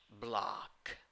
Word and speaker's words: block: You have an O when you write it, and the pronunciation is with A. Block. Block.